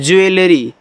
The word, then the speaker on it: jewelry: JEWELRY, तो इसको हम पढ़ते हैं ज्वेलरी, इसे ज्वेलरी। पेन नहीं चल रहा यार, ठीक है, चलिए आगे यहाँ पे हम देख लेते हैं।